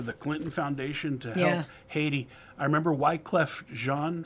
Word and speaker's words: Haiti: if you if you for the interest of pronunciation it's IAT IAT if you want to say it like a Haitian but here in America we say Haiti anyways where did that